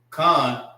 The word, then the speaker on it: Khan: Khan is spelled K-A-N. All right. Most people will look at that and say can. This is not can. This is actually Khan.